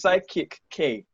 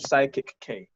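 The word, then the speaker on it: Psych-K: oh yeah it's netflix what is sidekick k is it no you said it right you said it right it's psychic think of psychic k oh my gosh have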